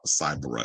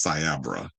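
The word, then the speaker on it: Cyabra: He says, Cyber, it's Sabra. Can't even get the name right."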